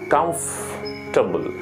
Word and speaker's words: comfortable: double okay this is how you need to pronounce this comfortable c-o-m-f-o-r-t-a-b-l-e you must be confused right now that